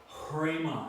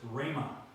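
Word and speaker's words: ῥῆμα: rough breathing mark foreign does not affect the pronunciation of rho so you don't go and I used to pronounce it Crema I used to give it a hook sound I was wrong it's there's there is no h sound it's just Rhema Rhema and you have Lagos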